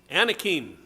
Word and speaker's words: Anakim: shows that joshua killed the blank anakin that's how i would pronounce it by the way